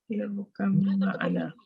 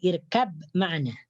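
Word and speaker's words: ارْكَب مَّعَنَا: irkam ma'ana. Irkam Ma'ana. Yes, irkam ma'ana. Betul. Bukan irkab ma'ana.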